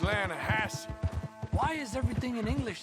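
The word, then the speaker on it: Lannahechee: the other day I rode down to the linahatchee river I caught some beautiful steelhead trout you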